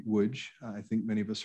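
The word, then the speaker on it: Łódź: and um obviously um the polish pronunciation uh would be woods i think many of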